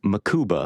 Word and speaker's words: Mukuba: Corner route but just the speed at which makuba broke on it I hope I'm getting that name right but I think it's makuba right it's makuba I'm thinking of the maou tackle yeah holy